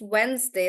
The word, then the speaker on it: Wednesday: pronounced and I told you that it's just Wednesday that's pronounced differently and it's not really wed day